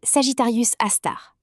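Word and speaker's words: Sagittarius A*: Son nom Sagittarius à étoile prononcé Sagittarius astar.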